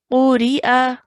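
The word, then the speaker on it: قُرِئَ: Quri'a. Quri'a. Good. Qaf with the dhamma, ra with a kasra. So one count each for these. And then hamza with a fatha.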